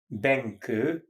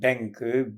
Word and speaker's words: Benkő: Her name was Anna, A-N-N-A, Benke, B like boy, E like Eve, N like Nancy, K like Kathleen, O with two accents on it, pronounced Ö.